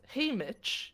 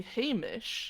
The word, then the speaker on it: Haymitch: Apparently, you don't pronounce it as Haymitch, you say Hamish, Hamish, which yeah.